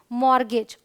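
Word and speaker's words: mortgage: है आप समझ लें ये है एम ओ आर टी जी ए जी बट पढ़ते क्या है मॉर्गेज ऑलराइट अब टी की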